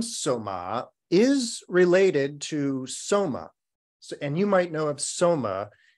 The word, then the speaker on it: Soma: But that's Soma, S-O-M-A, but a short A. Our nun, her name is Soma, with a long A at the end.